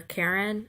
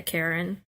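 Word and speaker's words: Charon: his name Sharon or Karen or whatever the Greek barge keeper yeah Karen that's stupid H is silent so anyway she writes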